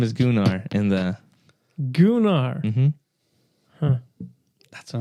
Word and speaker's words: Gunnar: Gunnar's the guy that's with Korra. Oh, that's his name. Yeah. So Gunnar? I thought they called him Gunner. He's pronounced Gunnar.